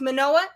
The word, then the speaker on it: Manoah: Because you pronounced Manoah and Cueto correctly.